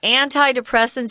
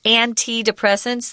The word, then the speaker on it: antidepressants: Sometimes these antidepressants or antidepressants, they're both correct pronunciations, actually make things worse.